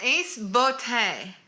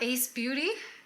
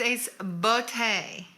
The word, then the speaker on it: Ace Beauté: It's Ace Beauté. Not Ace Beauty? It's Ace Beauté. That's how you pronounce beauté. In French.